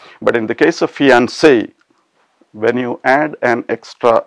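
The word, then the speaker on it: fiancé: it's quite strange that even the addition of an extra e doesn't cause any change in the pronunciation now that is quite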